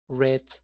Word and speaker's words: read: versión escrita no cambia, cambia en su versión hablada porque el verbo es read, red, red. El cambio es en la pronunciación más no en la escritura.